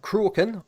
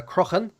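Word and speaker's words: Rathcroghan: we can go for rath crocon which should be the capital uh croakin or uh krohn there's a couple ways of pronouncing it that's that's the ancient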